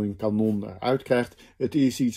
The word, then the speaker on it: kanon: En het enige klankverschil tussen die twee is op welk van de twee lettergrepen ligt de klemtoon.